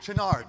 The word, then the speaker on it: Chouinard: Chouinard? Chenard. Chenard, thank you.